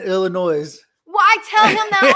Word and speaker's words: Illinois: that man he said the s is silent in illinois well i tell him